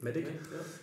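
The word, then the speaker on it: MEDDIC: okay so it's yeah it's spelt like m-a-d-d-e-c medic it's it's not a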